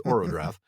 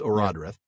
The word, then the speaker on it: Eärendil: the son of Eärendil, another name that we probably mispronounced in the early Season 1 episodes as Orodreth, but it is Eärendil.